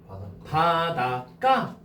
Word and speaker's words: 바닷가: 근데 이거 발음하면 어떻게 돼? 바닷가. 희한하지 않아? 저 바닷가에서 가가 까가 됐지.